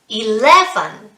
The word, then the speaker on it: eleven: the number ten good 11 11 excellent don't forget it's the second syllable which is stressed e lev then there are three syllables and the second syllable is stressed well done what comes